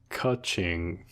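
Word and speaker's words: Qiqi: Apparently it's pronounced Kaching. Kaching? MiHoYo seeing money go into their pockets like ka-ching.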